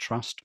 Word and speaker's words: TRVST: It's pronounced Trust, but we spell it TRVST, and that stands for a traceability and verification system, which is exactly what it is.